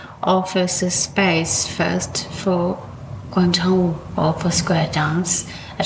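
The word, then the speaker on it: 广场舞: And first of all, how do you pronounce that in Chinese? Guang Chang. Guang Chang. Yeah, means square or plaza. Okay. Wu Wu. means dance. Dance. Okay. So Guang Chang Wu.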